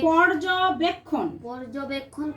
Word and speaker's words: পর্যবেক্ষণ: গাছগাছালি হ্যাঁ পর্যবেক্ষণ করে পর্যবেক্ষণ রেফের উচ্চারণ র আসে পর্যবেক্ষণ হ্যাঁ রোদ বৃষ্টির ব্যাপারটাও দেখে